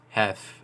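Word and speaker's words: Heth: I don't know how they put a dot in the middle of H and E, but yeah, it's pronounced hef actually.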